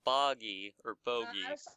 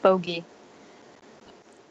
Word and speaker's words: bogey: stop I got a boggy pronounced bogey I played miniature golf